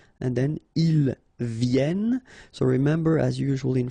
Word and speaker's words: viennent: And then ils viennent.